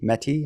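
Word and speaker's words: Métis: was uh cre or met or mate meti I think is the pronunciation um there was only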